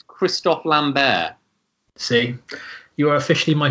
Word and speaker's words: Christophe Lambert: How do you pronounce the person who plays Connor McLeod in Highlander? Ah, so I always thought it's Christophe Lambert.